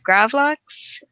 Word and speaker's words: gravlax: a nice rye bread and rabid LOX usually pronounced gravlax it's a salt Kurt's salmon well that doesn't